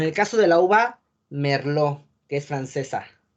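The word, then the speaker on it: merlot: caso de la uva merlo que es francesa merlo late no se pronuncia sale o en el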